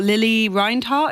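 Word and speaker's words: Lili Reinhart: I think and I also knew um oh Lily reinart is that how you say her name yes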